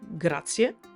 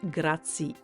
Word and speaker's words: grazie: I want to underline the word grazie because I often hear mispronounced. Is grazie, is not grazie.